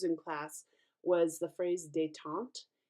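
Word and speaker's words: détente: remember to use in class was the phrase detonte it's spelled D E with an apostrophe t-e-n-t-e and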